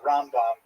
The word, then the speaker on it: Rambam: Um and especially on Ashkanazim, you can sort of distinguish the difference because we say Ramban uh with the accent on the last syllable and Rambam the accent on the first syllable.